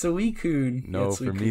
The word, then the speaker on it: Suicune: All right, so starting off with Raikou, Entei, and it's Suicune, dude. It's Suicune.